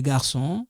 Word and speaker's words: garçons: And the garçons, this one silent. You don't have to pronounce that.